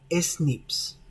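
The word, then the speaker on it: SNP: secuencia de un gen estas variaciones también se pueden pronunciar como snips en la figura se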